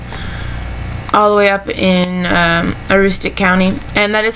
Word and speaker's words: Aroostook: lives um up all the way up in Aroostook County and that is how you pronounce it for you non-manners it's a rooster